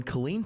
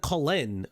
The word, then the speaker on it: Colleen: So he said Colleen's name incorrectly. He said Colin or something like that.